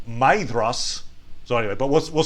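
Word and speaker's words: Maedhros: sons of feyenoor uh matheros uh which by the way i was i was just corrected uh on the pronunciation there was uh commenter purple hawk mentioned that actually the pronunciation should be maidros so anyway but we'll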